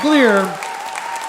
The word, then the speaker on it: Glier: Seth Gleer.